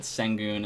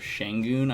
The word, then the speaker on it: Şengün: Actually, I probably got his last name more wrong because I said Sengun instead of Şengün. I believe it's supposed to be pronounced Şengün.